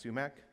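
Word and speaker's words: psumac: you're like me and you pronounce PSU max sumac with a silent P there's also a plant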